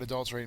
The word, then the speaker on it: adulterate: But that is pretty much what adulterate means. So the accented mark is the second syllable.